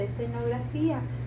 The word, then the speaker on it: escenografía: Y aquí tenemos la palabra escenografía. Vamos a escribir con otro colorcito. Escenografía. Escenografía. Acento en la I.